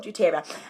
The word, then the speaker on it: doTERRA: Woo, doTERRA.